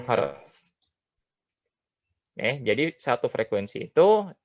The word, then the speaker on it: Hertz: Satuan frekuensi itu tulisannya Hz, dibacanya Hertz.